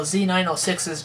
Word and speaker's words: Z906: which i said it right this time though z906s just aren't quite as good as like my